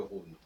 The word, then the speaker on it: Rhône: Alors ce qui est intéressant en passant, c'est qu'on écrit Rhin R-H-I-N et Rhône R-H-O, accent circonflexe N-E, mais on ne prononce pas différemment qu'il y a un H ou pas dans le R.